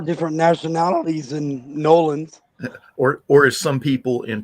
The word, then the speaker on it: New Orleans: Nolans. You got to say it right, Joe.